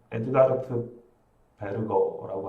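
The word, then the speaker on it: Edward Berger: 그래서 이 원래 에드워드 그 독일 발음으로는 에드가르트 베르거라고 알고 있거든요. 근데 이렇게 말하면 또 허세로 보일 수 있으니까 그냥 에드워드 버거라고 하겠습니다.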